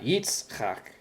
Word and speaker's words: Yitzchak: So going back to the last 2 words we went over, Yitzchak, it's not Yitzchak, it's Yitzchak.